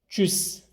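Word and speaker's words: Tschüss: tekrar ederseniz iyi olur Çüs t s c h Bu dört harfi Ç gibi okuyacağız o şekilde telaffuz edeceğiz Almancada Ç harfi yok ama bu dört harfin beraberi yan yana olduğu zaman Ç gibi telaffuz ediliyor ikincisi bistan üçüncüsü de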